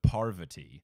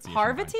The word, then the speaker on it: Parvati: but I'm pretty sure for names of Indian descent, you put more of the emphasis on the first syllable.